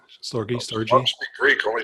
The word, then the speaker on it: storge: Storge? S-T-O-R-G-E. Pronounced storge? Sure. Storgy.